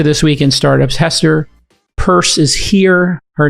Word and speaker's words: Peirce: welcome back to this week in startups hester purse is here her name is spelt p-e-i-r-c-e go ahead and follow her on